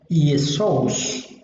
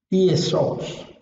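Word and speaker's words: Ἰησοῦς: En griego, como hemos visto, como vimos hace un momento, en griego el nombre se pronuncia Iesous. Iesous.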